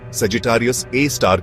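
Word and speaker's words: Sagittarius A*: black hole है जिसे सेजिटेरियस ए एस्टरिस उच्चारण सेजिटेरियस ए स्टार के रूप में जाना जाता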